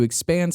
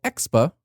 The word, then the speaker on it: Expa: Following its split off, Garrett worked to expand StumbleUpon's product offering to include mobile phone, app discovery, and social networking.